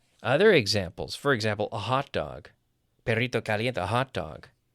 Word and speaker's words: hot dog: A hot dog, stressing the first half.